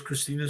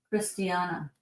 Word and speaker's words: Christina: What does Christina say? I wasn't sure if you were talking about, to me, people pronounce my name Christina, but it's pronounced like Christiana.